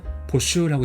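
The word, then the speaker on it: 募集: 발음은 보슈라고 읽어요.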